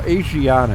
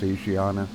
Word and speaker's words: Asiana: I was going to use the a well Asiana is actually how it's pronounced um but some people call it aana I've heard it pronounced both ways it's Asiana uh Airlines of course they are technically really